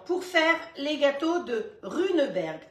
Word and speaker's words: Runeberg: Les ingrédients pour faire les gâteaux de Runeberg. Ça s'écrit comme ça se prononce.